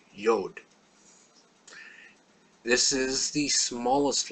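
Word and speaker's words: יוד: letter is the letter yod this is the smallest letter it's always smaller than every other letter and it's pronounced y or an i and it can sometimes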